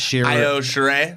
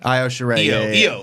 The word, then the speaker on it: Io Shirai: How do you pronounce that? Io Shirai. Io Shirai.